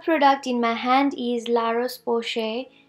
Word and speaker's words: La Roche-Posay: in my hand is La Rose poche moisturizer I pronounced well because it is a French company and Lars Bosch a